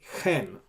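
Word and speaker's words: כֵן: And if there's no dot, you pronounce as chaf, chen. Now, the letter chet, that's how I pronounced chet, is pronounced as chen in Israeli pronunciation, but originally the chet was pronounced as chet.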